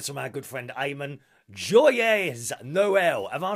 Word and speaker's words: Joyeux Noël: Joyeux Noël. Am I saying that right? It's got an X in it. I don't think you pronounce the X. Joyeux Noël.